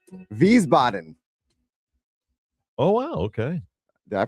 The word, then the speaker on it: Wiesbaden: I'm going to pronounce this right, but it's Wiesbaden. Oh, wow. Okay. Did I pronounce that right? Of course, I say that like I've been there. No. Wiesbaden.